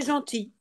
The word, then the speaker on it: gentils: Avec un I, on ne prononce pas ni le S ni le L.